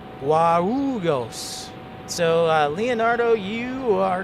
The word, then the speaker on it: Guarulhos: So yeah, that was Herbals' pronunciation, but it's Congonhas and also Guarulhos.